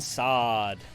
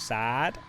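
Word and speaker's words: Saad: Brandon sad surname sa a a d Branden sad that's how it's pronounced in North America not sad although if you're in uh where he's from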